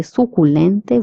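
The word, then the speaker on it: suculento: CU is pronounced as cu in Spanish. So we say suculente, which means succulent.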